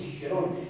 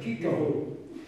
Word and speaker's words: Cicero: Per di più con la pronuncia tedesca, Cicero, non Cicero, Cicero.